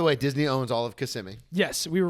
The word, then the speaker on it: Kissimmee: You You had it if you put the first and the second one together. Kissimmee. There you go. Kissimmee?